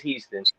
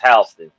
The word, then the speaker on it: Houston: 26th in houston delaware spelled the same way as houston but pronounced houston you know what i mean